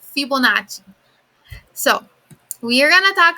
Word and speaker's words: Fibonacci: triangular numbers fibonacci sequence fibonacci is italian all right so it's fibonacci so we're going to